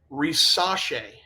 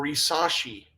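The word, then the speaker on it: Risacher: It is Zachary Risache or Risashi. The R's in there just go away. I don't know how they do it, but they just go away.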